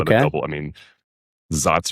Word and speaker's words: Saaz: So a lot of the double, I mean, Satz or Satz or however you want to pronounce it.